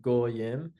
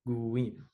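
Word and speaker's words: גוים: pronounced like o like goim um we would pronounce as u like guim.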